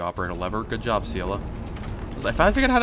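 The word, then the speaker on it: Seele: a lever good job seala cause I finally figured out how to pronounce it it's like zela like you say the word zeal and then you say uh at the end like talk about mozzarella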